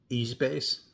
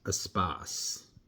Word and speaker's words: Espace: is actually pronounced espas which is the French word for space.